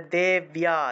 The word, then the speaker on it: দেব্যা: দীর্ঘকার, ধূত সটো, দেব্যা, বয়ের সাথে জফলা, তাহলে দেব্যা, ইয়ে উচ্চারণ হবে, দেব্যা বাহন কেশরী, কেশরী, এটা হলো ৫১ নম্বর।